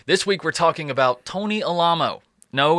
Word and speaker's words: Alamo: This week we're talking about Tony Alamo. No, it's not Alamo, okay? And I know I'm not a good source for how to pronounce it.